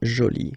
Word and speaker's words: jolie: you can see that you put this but then you don't pronounce it okay so it's Jolie so basically the two